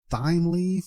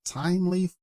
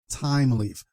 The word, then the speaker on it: Thymeleaf: it should we say th leaf or time leaf or what is it the correct pronunciation is Tim Leaf so the H is silent this is similar to the words like Thomas Thailand and so on so